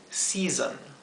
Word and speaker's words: season: La dificultad de la palabra season es que la segunda S se pronuncia como la S zumbada o vibrada, zzz, ¿verdad? O sea, la primera S se pronuncia zzz, la segunda S se pronuncia zzz, ¿bien?